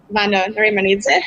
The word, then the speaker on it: Vano Narimanidze: I'm currently marketing manager at Swapzone, and today we're making an AMA with Horizen, business development manager Vano, Narimanidze. Hope I pronounced correctly your name and surname.